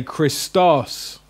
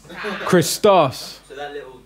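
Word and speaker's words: Χριστός: the action oh yeah the accent is on the Omicron so you say Chris stars yes Christo's that's an accent yeah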